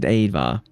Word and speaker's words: ajvar: As long as you know the trick that Ajvar is pronounced Advar. The J's are Y's.